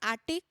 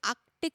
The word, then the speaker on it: Arctic: Again, you move a little upward, we have Arctic Circle, not Arctic, it's pronounced as Arctic Circle, 66.5 degree north.